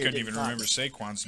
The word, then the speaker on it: Saquon: probably totally Was it pronouncing me? this wrong, but it's Saquon Barkley. Yep, Saquon.